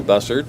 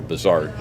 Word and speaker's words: Bussard: This is Mindy Bussard. Mindy, we'll go with Miss Mindy because I will mispronounce Bussard and call her Bizard many times because I know a family named Bizard and I don't want to do that.